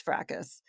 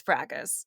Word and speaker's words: fracas: recently I learned that there's like a bunch of different ways that people pronounce fracas. Oh. I think the best way, my favorite is that way, is fracas. But there's also fracas is one that's also popular. And in the United Kingdom, they pronounce it fracas.